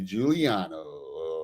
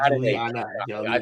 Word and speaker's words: Giuliano: So, without further ado, here we go with Jeffrey Juliano. Oh, did I I think I was worried I murdered his name again. Not an A. Definitely not an A. Not Juliana.